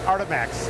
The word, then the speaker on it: Artemax: How do you pronounce this? Artemax? Artemax, exactly, yeah.